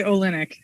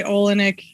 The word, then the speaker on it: Olinyk: you say your last name uh i say olynyk olin yeah olynyk some people say olinick uh yeah it's olynyk to me it's ukrainian